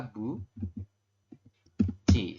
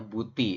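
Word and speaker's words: 붙이: seperti itu ya karena ada tiet di akhir ketemu dengan vokal I maka tiet berubah bunyi menjadi ci ci seperti ini jadi kalau kita baca adalah Bu Ci seperti ini Jadi dibacanya Buci bukan ee apa namanya Buti seperti itu yang ini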